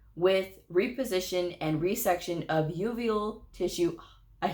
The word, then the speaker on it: uveal: or sclera, perforating with reposition and resection of uveal tissue.